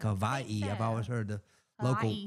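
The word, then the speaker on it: Hawaiʻi: you don't pronounce it Hawaii. How do you pronounce it? Seriously, when it's got the little it's Hawaii. It's like a V, like Hawaii.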